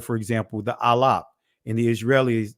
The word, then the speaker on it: Aleph: As he pointed out, when you look at that first letter, for example, the Alap, In the Israeli, it's pronounced Aleph.